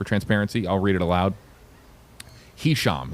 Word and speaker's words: Hisham: Hisham is the first name. It is spelled H I S H A M.